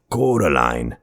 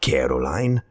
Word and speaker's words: Coraline: name wrong you know they keep saying coraline not caroline not caroline at all he picked up a